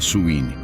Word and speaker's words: Samhain: de idade conhecida como samhain pronuncia suin realizada por povos da